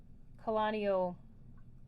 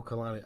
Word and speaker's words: Kalani: Calanio, I'm pronouncing that wrong. Let me see the name. Oh, Kalani. I was hoping you said Claudio.